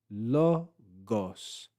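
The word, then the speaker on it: λόγος: We then have the lambda, omicron with an acute accent, which means we're going to rise on this syllable and fall back on this syllable. We have lambda, omicron, gamma, omicron, and then final sigma.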